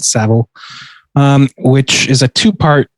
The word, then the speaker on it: Savile: new netflix documentary about jimmy seville savile excuse me i think they pronounce it savile um which is a